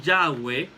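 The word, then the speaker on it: Yahveh: que vete a decir yagüe que era la pronunciación que más o menos le daban ellos quedan yagüe o llave ellos le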